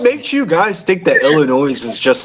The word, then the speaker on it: Illinois: It's uh it's pronounced Illinois.